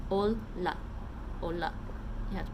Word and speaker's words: olla: So notice that in Finnish, the double L's, you have to pronounce both L's like in Italian and like in Japanese.